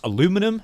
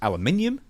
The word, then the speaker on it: aluminium: were made out of you would pronounce aluminum. I would pronounce aluminium.